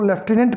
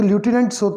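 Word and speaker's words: lieutenant: इसको लेफ्टिनेंट कहते हैं। स्पेलिंग इसकी ल्यूटिनेंट होती है, परंतु कहा इसको लेफ्टिनेंट जाता है।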